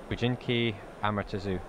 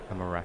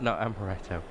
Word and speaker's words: Amaterasu: Bujinki Amaretsu. Amaretsu. Amaretsu. not Amaretto.